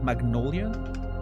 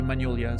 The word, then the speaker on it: magnolia: Do you how do you pronounce that word in English? Magnolia. Magnolia. In French you say Magolia. So and you know obviously that one was fantastic. Magnolia. Okay. Hard G.